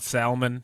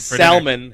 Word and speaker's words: salmon: sounds so good I salmon have died in vain for you to not pronounce the L in their name of Dare See Now